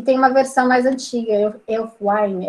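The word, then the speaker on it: Ælfwine: uma versão mais antiga Elf Wine é assim que pronuncia e Wine enfim Eh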